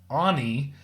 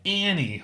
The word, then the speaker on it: Ani: was like it's pronounced Anie and do not pronounce it like Annie like I was so